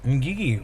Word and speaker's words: Ngigi: Ngigi. Well, see, from my language, the G is silent.